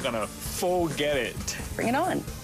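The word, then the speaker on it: pho: love but can't pronounce they pronounce it full and it's supposed to be F love fax soups it's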